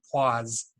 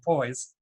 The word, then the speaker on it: poise: reason have an uncontrollable urge to pronounce this word the French way which would be pause so if I say flaws in the near future I really mean poise anyway the viscosity of